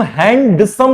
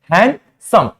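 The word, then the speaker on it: handsome: हो जाता है सिमिलरली अगर कभी भी डी एन के बाद आए या एन के पहले आए तो वहां पे भी वो क्या हो जाता है साइलेंट हो जाता है फॉर एग्जांपल आप लोग ये वर्ड कॉमनली देखे होंगे हैंडसम इसको हम हैंडसम नहीं पढ़ते हैं इसको हम क्या पढ़ते हैं हैंडसम हैंड समम सिमिलरली देयर इज आल्सो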